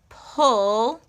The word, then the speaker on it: pulley: In push, so pull, and then E in key. So pulley, pulley.